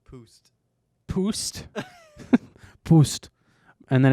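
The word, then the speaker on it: Pabst: ever How do you had a even beer pronounce this? Hold on. Pabapst. Pabapst. Is that it? Pabapst. before. No, it's Poost.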